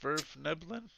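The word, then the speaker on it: svirfneblin: paths I'm sorry uh are you saying snurf nibblin or SF niin it's pronounced SF nibblin um although I I understand that some of the Southern dialects pronounce it snerf depends on the translator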